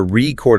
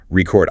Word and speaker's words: record: If you say, I want to record a song, with the stress on the first syllable, you are saying the noun, like a vinyl record. The verb is record.